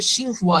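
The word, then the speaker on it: Tsinghua: আমি যদি I would like to elaborate about the সিংহুয়া university, এটা উচ্চারণটা হবে সিংহুয়া ইউনিভার্সিটি। আসলে ওরা এই যে টিটা এটা সাইলেন্ট থাকবে, এটা কিন্তু ওয়ার্ল্ডে বর্তমানে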